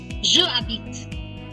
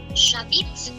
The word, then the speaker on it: j'habite: Previously, it would have sounded like je habite. But now it's much more j'habite.